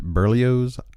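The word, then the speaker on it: Berlioz: I pronounce it Burlios. I don't know if that's the correct way to pronounce it, but that's the way in my head that I've pronounced it for the reader. This is B E R L I O Z, which I just say Burlio's.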